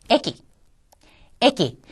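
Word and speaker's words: えき: 자, 요번에는 키라고 하는 카행에 들어있는 글자가 단어의 첫음이 아니라 뒤에 나왔어요. 이때는 어떻게 발음한다고 했죠? 소데스. 키라고 하고 발음하는 거는 첫음일 때고 끼와 가깝게 발음을 한다고 했습니다. 그래서 미나상 요코 키이테 쿠다사이. 잘 들어보세요. 애기. 어때요? 키보다는 끼와 가깝게 좀 발음이 들려오죠? 그렇습니다. 이게 첫음이 아닐 때는 끼와 가깝게 발음한다는 거.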